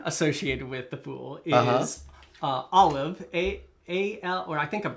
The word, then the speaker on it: Aleph: The Hebrew letter associated with the Fool is Aleph, A-L, or I think I'm pronouncing that right.